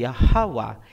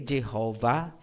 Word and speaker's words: Yahweh: So klarado na po tayo, ang pangalan ng Ama ay Yahweh, hindi Yahweh, hindi Jehovah, hindi Ahaya, hindi Yahuwah, at mas lalong hindi Jesus Christ.